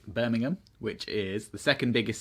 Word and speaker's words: Birmingham: And side note for all the Americans watching this, it is Birmingham, it is not Birmingham. But also, it's not Birmingham, Alabama. That's what I'm saying. Birmingham, not Birmingham. Hey, you guys pronounce it wrong.